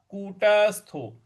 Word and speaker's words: कूटस्थो: कूटस्थो विजिते कूटस्थो विजितेंद्रिय यहां कूटस्थो ट के ऊपर थोड़ा सा बल देना है हमें आघात देना कूटस्थो विजितेंद्रिय कूटस्थो विजितेंद्रिय